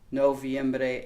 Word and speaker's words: noviembre: Again, similar, but we have to watch the pronunciations there, especially those hard O's in noviembre and octubre.